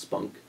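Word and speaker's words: SPOHNC: with people with oral and head neck cancers pronounced spunk is p.o a spot to get through this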